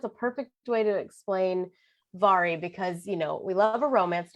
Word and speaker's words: Vari: I love Vari McFarland. Yes, it's spelled like Mahari, but it is Vari.